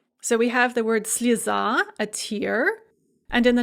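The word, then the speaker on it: слеза: we have the word slizzah a tear and in the nominative singular the stress is on the ah and so that yeah there is pronounced as an e slisa but then you put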